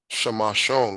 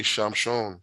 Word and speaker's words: Shamashon: Why don't we say Shamshon? It ends in the letter closed. How come it's not just reduced syllable? Because of the word shamash in the word. Aman, because of the word shamash in the word. So we don't screw with the word. We keep that word. We pronounce it the same, and we have shamashon.